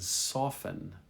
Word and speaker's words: soften: Listen, ended, and soften. Soften, no T.